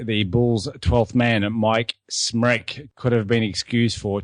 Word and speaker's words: Smrek: Stan Albeck wanted to keep Dave Corzine in his regular role off the bench, leaving the Bulls' 12th man, Smrek, pronounced wreck as in nervous wreck, wrote the sack.